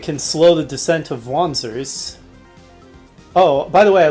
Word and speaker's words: wanzer: So technically it should probably be pronounced wanzer with a V, but I probably won't be consistent about that at all.